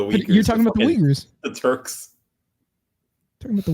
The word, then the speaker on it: Uyghur: Fucking Uyghur law. Jesus. I think you mean Uyghur. Is that how you pronounce it?